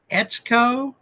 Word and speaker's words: Etsuko: times so far but she says it rhymes with let's go so if I mess it up you guys can call me and say hey dude be more respectful etco marito is it it's